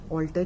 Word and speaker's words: alter: This altar we will use there ALTER वाला altar ही बोलते हैं हम इसको, pronounce हम इसे altar ही बोलते हैं, but there is a difference in the spellings.